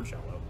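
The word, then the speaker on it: Jellÿ: Or Jello, yes. The Y is pronounced with an O.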